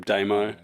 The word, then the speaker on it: Damo: Is it Damo or Damo? How does he pronounce it? I've always said Damo. Well, I don't know. I switched to Damo. You were saying Damo originally? Damo. Yeah, well, Damo is quite an Australian way of saying it.